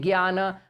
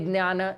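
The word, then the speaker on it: ज्ञान: shlokas we take Jnana, for others we take Gyana, for rest of them we take Jnana. That will be confusing. So we are going to stick to the Jnana, because we see the spelling of Jya is J-N-A. So for all of us, it is very easy to follow what is written over there. You know, it sounds correct. Otherwise, we are writing J-N-A and calling it Gyana.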